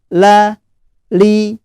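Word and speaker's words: ل: kasrah dibaca tipis ya tetapi jika sendiri seperti ini bacanya tipis ya la li jadi jangan lo nih lu tapi la li lu alteil full ya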